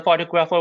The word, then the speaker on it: photographer: I think uh the photographer was photographer even though we say photograph we say photographer the stress changes yeah we say photograph